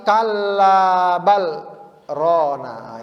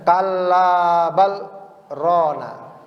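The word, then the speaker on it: كلا بل ران: maka Allah katakan lagi Kalla bal Rona ini cara bacanya Ada apa namanya sakta jadi B sakta itu apa Berhenti sejenak tanpa napas ya bacanya Kalla bal Rona ya biasa itu ada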